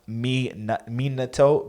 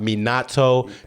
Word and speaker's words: Minato: with the phonetics like it's actually pronounced me NATO but like I don't got time for that I'll let him what we want Minato Minato Minato it's gonna